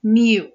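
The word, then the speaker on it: μ: the entire population and the way we pronounce it is Mu okay this is how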